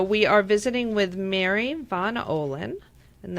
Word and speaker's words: Von Ohlen: are visiting with mary von olin and that's the german pronunciation um mary is she